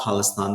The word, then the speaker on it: Khalistan: Khalistan is, yes, it was an attempt to create a nation state, autonomous nation state in.